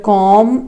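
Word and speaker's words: comb: letter of D word कॉम इसे not spoken I think you should understand बोलते हैं be always silent होता है सो राइट आंसर इस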